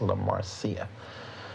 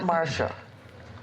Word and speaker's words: La Marcia: and stuff so yeah her name is La Marcia so not Marsha no not Marcia no